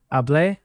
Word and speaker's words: Hablé: Hablé, hablaste, habló, hablamos, hablaron. One tiny but important detail. In Spanish, these written accents matter. Hablé with an accent on the final A means I talked.